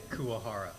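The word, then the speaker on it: Kuwahara: how do you say your last name kuahara kuahara yeah co-founder principal bentobox entertainment produces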